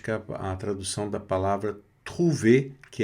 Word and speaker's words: trouver: Trouver. Vamos ver depois aqui essa pronúncia do O mais U da U.